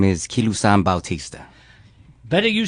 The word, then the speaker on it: Kilusan Bautista: My name is Kilusan Bautista.